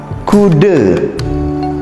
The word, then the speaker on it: kuda: Terus ada kata kude atau akude. Kude dalam bahasa Indonesia itu berarti berapa. Jadi kude tulisannya kuda, namun dibaca kude.